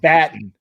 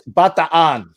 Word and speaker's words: Bataan: No, it's Bataan. Because in Tagalog you pronounce every syllable.